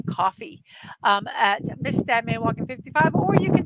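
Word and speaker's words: Ko-fi: I've been pronouncing this Kofi. I'm going to now change it to coffee at Mrs.DadmanWalking55, or you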